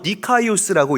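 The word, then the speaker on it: δίκαιος: 여러분, 성경에서 말하는 이 의로움, 의롭다라는 이 단어는 헬라어로 디카이오스라고 읽고 발음합니다.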